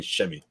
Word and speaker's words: Semi: All of a sudden, Brad Stevens started saying Shemi. No one said Semi after that. It was Shemi for forever.